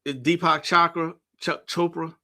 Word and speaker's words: Deepak Chopra: Deepak Chopra.